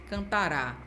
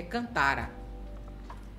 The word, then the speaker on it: cantará: Se eu coloco acento, eu vou ler de uma maneira diferente. Claro, né? Porque eu tô com a minha sílaba tônica lá, né? Lá na última sílaba. E ele vai fazer parte do verbo do tempo futuro do presente. Se não tem acento, é cantara. Se tem acento, é cantará. Muito cuidado.